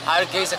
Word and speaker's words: Hargeisa: How do you pronounce the capital city? Hargeisa. Hargeisa, capital city.